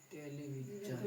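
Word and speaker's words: television: एस आई ओ एन टेलीविजन। इसको क्या बोलेंगे? टेलीविज़न। इसको क्या बोलेंगे? टेलीविज़न। टेलीविज़न। टेलीविज़न। ठीक। आज इतना ही देखेंगे। कल हम पढ़ेंगे कि एस का उच्चारण ज होता है और और भी नियम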